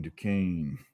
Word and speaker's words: Duquesne: Duquesne. Rhymes with cocaine. Here we go. Not spelled like it, though.